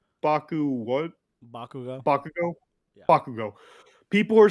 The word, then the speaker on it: Bakugo: Bakugo.